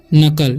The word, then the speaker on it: knuckle: यहाँ पर लिखा हुआ है KNUCKLE, ठीक है, तो इसका उच्चारण होगा नकल, ठीक है, इसे पढ़ते हैं हम नकल।